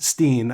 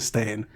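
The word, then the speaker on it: Berenstain: I think it's always been spelt that way, but we've just always said it Steen as opposed to Stain.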